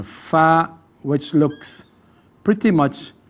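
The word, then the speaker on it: ف: Fa. Pronounced like when the incisors go into the bottom lips. Fa.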